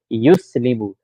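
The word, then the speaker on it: يُسْلِمُ: Yuslimu. So the ya starts with dhamma. Good start. Yus. Second letter has sukoon. Good. Li. Third letter has kasra. Mu. Fourth letter has dhamma. Yuflihu rhymes with yuslimu.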